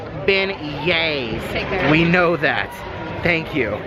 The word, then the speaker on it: beignets: in the comments section correcting us saying it's pronounced beignets we know that thank you I will say